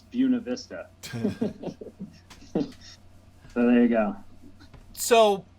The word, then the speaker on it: Buena Vista: Yeah, like there's a town in Colorado that in Spanish is Buena Vista or Buena Vista. Yeah. But in Colorado it's Buena Vista.